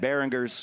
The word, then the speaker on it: Barringers: a winning show at Behingers. Am I saying that right? Right. Right. Behers. Behingers. Yeah. You know, that's called a a soft G. A hard G is Behingers.